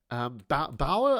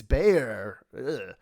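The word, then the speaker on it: Baauer: Bauer, I don't know if I'm saying that right. It sounds German, but turns out he's American, unless I'm pronouncing that really, really wrong. No, man, it's Bayer.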